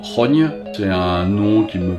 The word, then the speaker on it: XOGN: de 10g quasi imprononçable ça s'écrit x ogm mais ça se prononce rogne c'est un nom qui